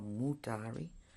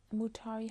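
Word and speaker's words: Mutare: No, it is now Mutari, and Salisbury is Harare. Mutari, how do you spell that?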